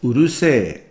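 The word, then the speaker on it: うるさい: Urusai becomes urusei.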